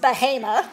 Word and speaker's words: Bahama: in Bahama which is spelled Bahama but is pronounced Bahama because we're here in North Carolina which is